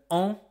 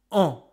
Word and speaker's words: an: It's pronounced an. That's only one sound. You don't care about the N, you don't care about the S, you just pronounce it an. An is a sound that comes from your nose.